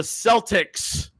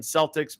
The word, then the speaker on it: Celtic: So it's not a Celtic. It's Celtic is the kind of people that they're talking about.